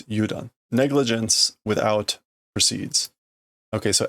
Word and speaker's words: udon: Okay, that is not udon. Or is it udon? It's udon.